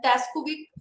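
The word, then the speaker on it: Stajkovic: Also, Luthans and Taskovic, it's the S is silent.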